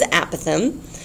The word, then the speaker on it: apothem: the correct pronunciation is apothem um yeah it sounds like a possum doesn't it the animal that sleeps